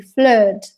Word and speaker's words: flood: word flood remember that when you have double-o in English you have to pronounce it like a flood okay and then we